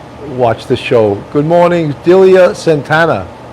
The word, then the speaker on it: Delia: It's Delia, yes.